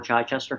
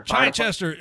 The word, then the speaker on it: Chichester: So have you, I mean, you're a former captain with the local, how do you pronounce the name of this? Lower Chichester. Chichester.